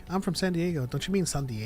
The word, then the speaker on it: San Diego: white person and and they're like I'm from San Diego don't you mean San Diego well I